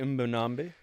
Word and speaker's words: Mbonambi: Bongi Mbonambi.